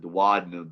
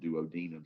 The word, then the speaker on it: duodenum: lot of times like American doctors may pronounce it duodenum, but then like foreign doctors may pronounce it duodenum. So it's good to know both of the pronunciations, so that way when the doctor says it, you know they're probably the same thing.